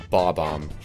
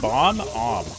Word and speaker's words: Bob-omb: Bob-omb. Bob-omb? Yeah. Like. Not like Bob-omb. Bob. Yeah, me neither. It's always been Bob. It's been Bom-Om, which is even more wrong, but that's how I say it.